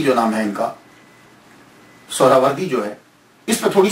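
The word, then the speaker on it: سہروردی: اصل میں یہ سہراوردی یا تو نسبتی ہے تو لفظ جو ہے وہ سہراورد ہے, سہراورد سین کے اوپر پیش پہلی ہا یہ ہا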